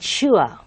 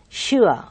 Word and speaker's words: sure: So you have that kind of ua sound over there. So you should say pure, pure, and sure, sure, poor, poor.